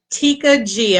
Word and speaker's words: Tekia Gee: first and foremost welcome to Spotlight radio show Tikka G am I saying it correctly oh yes ma'am